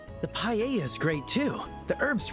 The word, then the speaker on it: paella: And mine is the seafood paella. Paella. So, you don't even pronounce the L.